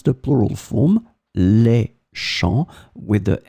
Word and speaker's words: champs: So as you can see here, it's the plural form, les champs, with the S in the end, but it's still the same pronunciation because we don't pronounce the final S.